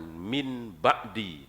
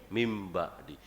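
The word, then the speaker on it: من بعد: mudah sekali dengan perumpamaan nun mati ketemu ba itu namanya iklab bacanya bukan Min b'di tapi min ba'di kira-kira Rasul pernah ngomong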